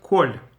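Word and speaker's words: כל: The word kol, everything. When it's with smichut, with a kind of dash, makaf, right? Kol hachaim, or something like that. Whenever it's all of something, it's a kamatz. Sometimes it's a separate word kol, then it's a cholom, and then it's for sure the pronunciation is o for Sephardim.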